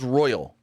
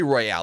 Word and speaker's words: Royale: Well, Trios Royal. Royale, whatever. They say Royale. They don't say Royal.